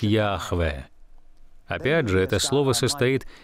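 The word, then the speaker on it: Яхве: ему свое личное имя мы не совсем уверены в том как оно произносится исследователи семитского считают что оно произносится как йахве опять же это слово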